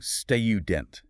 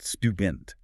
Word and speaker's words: student: Some people force a heavy artificial U sound, saying student, instead of the more standard, relaxed student.